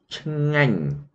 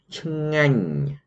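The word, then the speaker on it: ឆ្ងាញ់: your throat okay so I pronounce this word for you I say Chang you see Chang okay I mean delicious or tasty okay so you say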